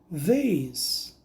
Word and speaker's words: these: These, these. Aqui nós vamos pronunciar com um som de dedilhado com a língua presa.